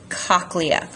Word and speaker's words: cochlea: That's the cochlea. Can also be pronounced cochlea.